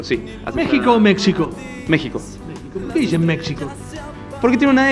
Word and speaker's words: México: querida estoy viviendo en México sí a México México porque tiene una x pero en realidad la x para en cuanto a historia mexicana es se pronuncia como J bueno a ver vamos